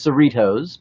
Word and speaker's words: Cerritos: ship porn nerd industry descended on the USS Cerritos by the way that's how it is said